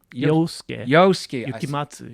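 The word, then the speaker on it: Yosuke Yukimatsu: Yes, and is that how you pronounce it? Yosuke. Yukimatsu.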